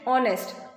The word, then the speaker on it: honest: an honest man here h is not pronounced H is silent and we pronounce it honest o o is Vel